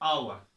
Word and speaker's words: hour: हॉर्स यहाँ पे एच हम प्रोड्यूस करते हैं, प्रोनाउंस करते हैं, तो इसीलिए हम लिखते हैं ए हॉर्स.